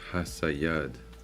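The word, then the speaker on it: חסיד: And how you say it is Hasayad.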